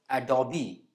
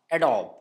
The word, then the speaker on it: Adobe: This one is Adobe and not Adobe.